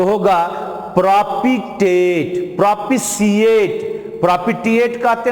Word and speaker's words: propitiate: अब सी भी जोड़ सकते हो, प्रोपिशिएट, लेकिन शुद्ध हिंदी में प्रोपिटिएट बोलेंगे। इसको क्या बोलोगे?